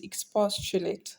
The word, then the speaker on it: expostulate: so now back to our word which is expostulate so let's start from the back we have eight two and Pa so first one 2 three so the stress will fall on what PA which is a third from the back so